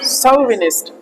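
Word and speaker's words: chauvinist: आप देखोगे तो क्या है, च को श के साउंड में भी कई बार प्रोनाउंसिएट किया जाता है, इंग्लिश है ना।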